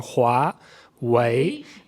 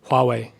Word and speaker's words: Huawei: So Huawei, if you want the full-blown version with the tones and everything, Huawei. But if you just want something that's not completely wrong and acceptable on like Western and Chinese standards, you could just say Huawei, like that. That would be acceptable. So what's number 1 and what's number 2?